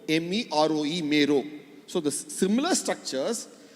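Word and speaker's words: Meroë: In the southern end of the river, where the river passes through Sudan, Khartoum, it's called Mero, M-E-R-O-E, Mero. So the similar structures have got phonetically similar meaning, names and similar meanings both in India and in Egypt.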